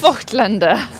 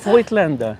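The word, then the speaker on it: Voigtländer: Voigtlander. Voigtlander. It's not Voigt. There's no I. No, it's a Voigtlander. It's Voigt. Exactly. It's Voigtlander. Exactly.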